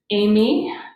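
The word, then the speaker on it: εἰμί: catch tony so right this is an e i makes the a sound and that's a diphthong that makes one sound and we put the accent on the second amy is the verb to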